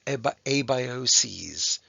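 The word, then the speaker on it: abioses: do this and then the pronunciation changes to a by OCS just like one crisis two crises okay uh what we unfortunately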